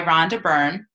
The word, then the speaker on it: Rhonda Byrne: It's by Rhonda Byrne.